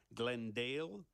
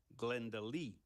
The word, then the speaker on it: Glendale: Glendale, Glendeli. Glendale has two syllables. Glendeli has three syllables. And the crescent do not sound alike, even if most of their letters are the same.